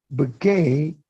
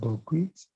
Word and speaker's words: bouquet: Bouquet is spelled B-O-T, bouquet. As if you are saying buckwheat, but it's not pronounced buckwheat, it's bouquet.